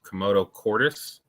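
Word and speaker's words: commotio cordis: Komodo cordis. That's what it's how called. I've been pronouncing it.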